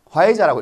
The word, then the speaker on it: 화이자: 어떻게 읽습니까? 화이자라고 읽습니다. 화이자.